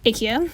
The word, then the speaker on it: IKEA: put note 1 ikea i pronounced ikea the way my mom does no it's not because that's her chinese accent it's because she speaks swedish fluently do you but note